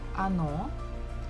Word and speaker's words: оно: Next word is оно. So again, the second syllable is stressed, so we must pronounce it O. The first one is not, so we pronounce it as A.